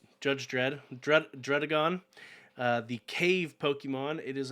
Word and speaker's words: Druddigon: I just Googled pronounce and I copy and pasted. Druddigon.